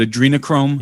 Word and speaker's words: adrenochrome: the the right pronunciation is it adrena is it adrenochrome yeah that's what i heard yeah that's right start talking about adrenochrome